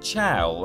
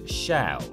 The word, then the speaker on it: Chell: all the naysayers that it is absolutely pronounced chao and not shell glados herself says it like that in an unused bit of dialogue i'm going to kill